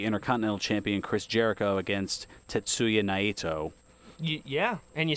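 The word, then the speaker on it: Tetsuya Naito: Pacific and it's headlined by IWGP Heavyweight Champion Kenny Omega against Hiroshi Tana Hoshi & IWGP Intercontinental Champion Chris Jericho against Tatsuya night so yeah and you said it right good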